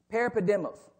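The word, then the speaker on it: παρεπίδημος: about Exiles is this the word actually is parapedemos it's how you say it in the Greek parapodimus you're like I don't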